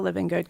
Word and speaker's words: Livengood: And how do you spell living good? Because I don't think it's spelled as you would say it phonetically.